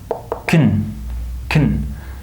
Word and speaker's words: can: Notice here that the word can is also not pronounced can, right? It's pronounced kun, right?